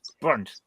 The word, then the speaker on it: Brunt: The correct pronunciation is Brunt.